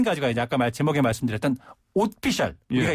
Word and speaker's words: 옷피셜: 그러니까 오피셜이 아니고 네. 옷피셜.